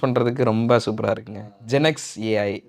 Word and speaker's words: ZenXAI: ஜெனக்ஸ் ஏஐ அது ரொம்ப சூப்பராக இருக்குது. சில பேர் ஜென்சாயின் ப்ரொனவுன்ஸ் பண்ணுவாங்க, பட் இருந்தாலும் பரவாயில்ல. ஜென்சாய் அதுவும் நல்லா தான் இருக்குது ப்ரோ.